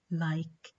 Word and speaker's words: like: Tamam, and notice that the word like has this letter at the end, ال-E, بس السound الأخير اللي لفظناه هو مين؟ ك, like. يعني in pronunciation كأنه ال-E مش موجودة.